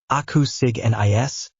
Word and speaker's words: Acusignis: This morning we are going to focus on a spell called Acusignis, pronounced Aku-sig-nis.